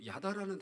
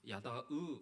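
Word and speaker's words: ידע: 성경에서는이 알자라는이 알라라는이 말씀의 단어가 어 그 어원이 그 야다라는 단어입니다. 야다으 이렇게 발음하기도 하는데 야다라는 단어예요.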